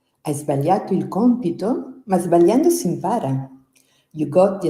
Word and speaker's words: sbagliando: Remember that the letters GLI together in Italian are pronounced Y.